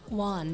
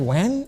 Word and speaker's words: Wan: Juan. W-A-N. Because I was like, Wayne?